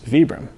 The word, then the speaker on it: Vibram: i go by the way that the founder pronounces it which is vibram so it's actually vapor well it's acceptable it's